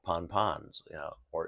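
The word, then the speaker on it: pan-pan: give out warnings called Pon pons you know or it's spelled p-a-n Dash p-a-n pan ponpon uh those are warnings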